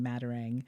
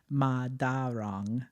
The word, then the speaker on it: Madarang: my name was actually Madarang. Oh. Yes. So that's how you say it in the Philippines.